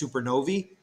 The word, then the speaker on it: supernovae: die they go supernova or this is actually pronounced supernovae it just doesn't feel